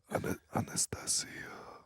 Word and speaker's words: Anastasia: That's how you say it in Russian. Anastasia.